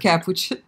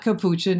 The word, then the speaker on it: Capuchin: way oh he said by the way it's pronounced cap which not Capuchin as you told it once right I am